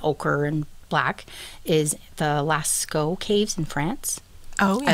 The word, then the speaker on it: Lascaux: A great example of where you'll see white and ochre and black is the Lascaux caves in France. Oh, yeah. I looked up the pronunciation. Ooh, apparently hey. it's Lascaux.